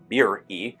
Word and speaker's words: Beeri: Beeri is how English white Anglo-Saxon tongues typically pronounce it, but those are 2 separate vowels in Hebrew.